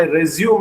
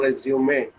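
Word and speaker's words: résumé: And in fact, it needs to be pronounced as resume. Both the accent marks will give you a typical pronunciation of a sound to the word, which is different from resume.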